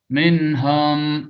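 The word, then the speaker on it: مِنْهُمْ: Minhum, hum, kayak home aja, bahasa Inggrisnya home itu apa? Rumah, home, home. Are you at home? Home, home, ya, bukan hum. Minhum, kalau yang fasih kan jelas minhum, bukan minhum. Jadi nggak boleh antara fathah dan dhammah, harus jelas minhum.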